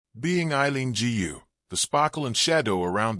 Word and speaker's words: Eileen Gu: Being Eileen Gu, the sparkle and shadow around the American representing China in the Winter Olympics. Winter Olympics grittiest and most glamorous skiing star Eileen Gu, pronounced Eileen Gu, an American representing China, spent Valentine's Day on